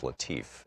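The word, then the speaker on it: Latiff: Our book today is Future War, Preparing for the New Global Battlefield by Robert, I believe it's pronounced Latif, L-A-T-I-F-F.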